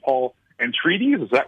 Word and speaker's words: Atreides: All were considered for that role, and for the role of, and I'm going to mispronounce the name, Paul Atreides. Is that right? Atreides, Paul Atreides.